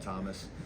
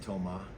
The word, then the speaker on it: Thomas: He said I could just call him Thomas because I'm an American. So, I'm gonna keep calling him Thomas, but it's actually Toma if if you want to.